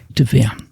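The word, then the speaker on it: דביר: Does anybody know how that is pronounced? Devir. Okay.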